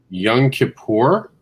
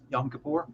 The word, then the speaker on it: Yom Kippur: is and i'm uh definitely trying to uh pronounce this right young kippur yom kippur yeah is today's holiday so we just want